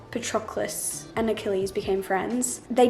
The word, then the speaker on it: Patroclus: In the book it says this. This is how you say it. Patroclus.